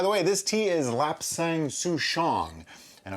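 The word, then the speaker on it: lapsang souchong: is lap sang-soo-shong and i'm probably saying that wrong except that i looked it up and google says to pronounce it like this so if anybody has an argument with that argue with google because that's who told me how to say it there's an interesting story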